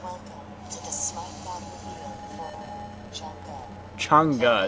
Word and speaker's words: Chang'e: to the for cha changa is how she pronounces it or how the noun says it um FNG you're going